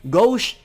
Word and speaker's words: Gauche: of Allah was taking Grolsch that's how you pronounce many people say it's not gosh it goes so gauche and his sister Mari were both essentially turned